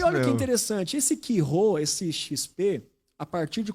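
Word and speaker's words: Chi Rho: E o X é um Ki, que é como se fosse um CH, mas pronuncia Ki. Ki Rho, esse XP, é a forma grega de escrever Cristo.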